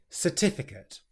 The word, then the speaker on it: certificate: The next word is certificate. And what can catch you out here is the rhythm and stress of the word.